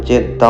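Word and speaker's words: جدة: মনে করা হয় হাওয়া আলাইহিস সাল্লাম মারা যান জেদ্দা অঞ্চলে। জেদ্দা শহরের পুরনো নামের সাথেও এই ধারণা জড়িত। জেদ্দা শহরের আরবি উচ্চারণ জাদ্দা যার অর্থ দাদী।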